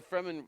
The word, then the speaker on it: Fremen: Why do you think they're called Fremen? It rhymes with. Kind of sounds like semen. If you just take off the FR and put the S.